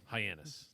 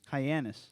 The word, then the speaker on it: Hyannis: is that the name Hyannis Hyannis Diana this is spelled hi anus no H a hy n like why not like - never so there was an